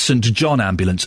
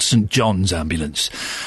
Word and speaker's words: St John Ambulance: advert we now know it's St John Ambulance not St John's ambulance and boy do they get upset when you say it wrong and good for them